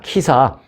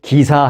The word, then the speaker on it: 기사: 그러면, 야, 키사. 발음해봐. 키까지는 아니어도 기사 해봐. 기사. 그러면 기사 하겠죠.